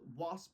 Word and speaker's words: WASVP: system exactly is so I call it wasp with a silent V uh so w starts